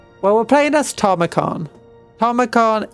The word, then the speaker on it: Tamurkhan: Tomicon is how it's meant to say his name.